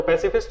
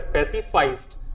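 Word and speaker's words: pacifist: तो ऐसे इंसान को कहा जाता है पैसिफिस्ट, या तो पैसिफिस्ट या फिर पैसिफाइस्ट, दोनों ही सेम होते हैं। मतलब प्रोनाउंसिएशन चेंज है, वर्ड तो सेम ही है ना भैया।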